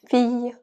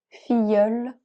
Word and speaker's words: fille: Famille, fille, brouillard, bouteille, vieille, veille, brillant, abeille, oreille, bataille, comme travail, filleul, habillé, taille, oreille, feuille, œillet, grenouille, cueillir, juillet.